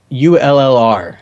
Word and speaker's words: Ullr: How do you pronounce ULLR? Ah, I was wondering how you're going to pull that one me off. too. Smart college boy. It's Ul. Ul. That's how say he Uller.